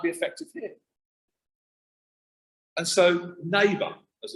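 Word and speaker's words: Naybа: And sometimes people say to me, Matt, why Neighbour? And it's spelled unusually, it's spelled N-A-Y-B-A.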